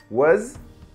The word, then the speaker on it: was: essas duas pronuncia comigo was was sonzinho de Z né Mais ou menos e were were Cuidado